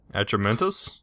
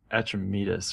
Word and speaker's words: Atramedes: Atramentus? Is that what I said? You said Atramedes or something. Atramedes. Like yeah, there we go. Atramedes. I just ignored it. You said it wrong again.